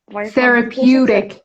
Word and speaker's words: therapeutic: Therapeutic. همون فونتیکش هم نیستم تقلب کنم. Therapeutic. Say rep. Eutic, yeah. Therapeutic.